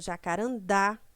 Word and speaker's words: Jacarandá: três últimas sílabas certo então oxítonas são palavras que tem a última sílaba pronunciada com mais força por exemplo Jacarandá guaraná acarajé café Cipó dominou